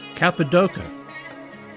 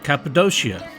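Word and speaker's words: Cappadocia: it out all right capid DOA capid doia capid doia they are all acceptable pronunciations to people from the central part of modern day Turkey after after all tourism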